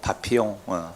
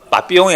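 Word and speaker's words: Papillon: 파피용. 빠삐용이 아니고 원래 발음 파피용입니다.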